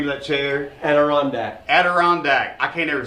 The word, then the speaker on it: Adirondack: Adirondack.